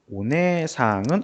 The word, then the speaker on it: お姉さん: 그러니까 이때는 오네상은 언니라는 뜻의 단어예요. お姉さん、 그래서 오네상이라고 적혀 있는데 네를 두 박자로 끌어주고 그다음에 상을 발음해 주죠.